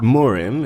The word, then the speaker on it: Murim: is for anyone unfamiliar the word morm is the Korean pronunciation of the word wulin this trans translates to